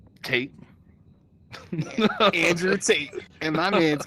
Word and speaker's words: Tate: But I mean, like speaking of hate, we know it rhymes with hate. Tate.